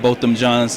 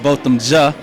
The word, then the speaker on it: Botham Jean: We're going to continue to make sure that Botham John's name, let me say this real quick, Botham Ja, because my Caribbean sister, Safia, has always told me to make sure I pronounce it right.